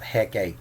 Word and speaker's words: Hecate: what she's known for in the modern English's probably pronounced Hecht Hecate common practice pronouncing in name and two syllables instead of Hecht Hecate